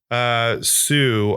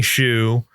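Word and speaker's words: Hsu: And the character and Stephanie Sue, I believe is how you pronounce her last name. But Stephanie Shu.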